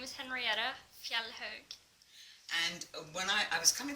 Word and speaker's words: Henriette Fjellhaug: and her name is Henriette, and I can't pronounce her last name, so would you tell everyone your name? Hiya, my name is Henriette Fjellhaug.